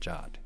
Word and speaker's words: JWT: of mine from work about calling it Jot and she challenged me to a wrap off and I lost. So what are you gonna do? I have to call it Jot now.